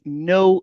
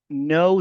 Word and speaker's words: know: I know them. Faites beaucoup attention à ce verbe là. Le verbe commence par un cas mais le cas ne se lit pas. Il ne se lit jamais ici.